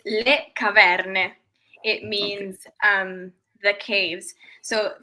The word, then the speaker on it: le caverne: I said La Caverne. Give us the actual authentic Italian word for it. That's actually pretty good. It's le caverne.